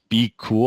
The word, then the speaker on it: BQOOL: This year I was signing up for App Eagle and I decided to test out this repricer called Be Cool. I think is how you pronounce it, BQOOL.